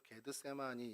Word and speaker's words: 겟세마네: 해보고싶은 마음이 있는데요 어이 겟세마네는 기름짜는 틀 아까 말씀드린서 게드 세마라 이제 헬라어 발음으로 실제로 게드 세마이 이렇게 되는데 그런 뜻이고 어 여리고로 가는